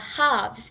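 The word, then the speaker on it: halves: A things done by हाफ्स are never done. Right? अब आपने हाफ्स word देखा होगा। यहां पे आपको एल की साउंड नहीं आई होगी। प्रोनाउंसिएशन नहीं आई होगी। क्योंकि इसमें एल साइलेंट हो गया।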